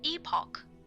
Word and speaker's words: epoch: It's pronounced epoch, by the way.